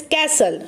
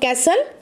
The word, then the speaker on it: castle: The pronunciation is given, that is castle. So what is the spelling of castle?